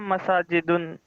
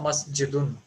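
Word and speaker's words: مَسْجِدٌ: Haja masajidun. Pradeep, your answer is right, but you have to say it properly. Haza masjidun. Masjidun. Yes. Just because masajid is plural of masjid.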